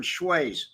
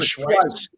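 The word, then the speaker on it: Schweihs: We didn't say Schweiz either. Frank Schweiz. Frank the German Schweiz. Schweiz, not Schweiz. It was Schweiz. We never said Schweiz.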